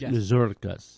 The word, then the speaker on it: Mazurkas: Well, it's first of all, it really, if you want to pronounce it correctly, it's Mazurkas. Mazurkas. Yeah. And gotta roll that tongue.